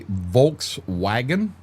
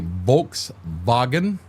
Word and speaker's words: Volkswagen: So in in German, I I do remember some German um what we call a Volkswagen. They call a Volkswagen. The W is pronounced with a V.